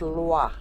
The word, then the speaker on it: Loix: It's on Ilder Ray and it's on a little place called Lua which is spelled L O IIX Loix.